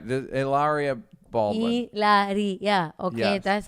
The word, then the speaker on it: Hilaria: Hilaria. Okay, Yes. that's how it's pronounced.